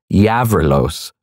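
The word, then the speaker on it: Γαβρίλος: Thaniel could not understand, she uttered the name with a hard G, before adding, "and now in Greek, Yavrilos," with the G pronounced softly.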